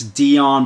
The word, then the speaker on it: Deion: NFL other people say other people say male blunt no no no no no it's Dion Prime Time Dion Sanders